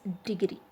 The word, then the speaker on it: degree: and the next is degree okay in case of degree d is weak weak prefix though that's why the stress is on green he got a degree